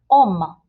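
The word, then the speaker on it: homme: man the word is oma h-o-m-m-e and the h is silent so i can't say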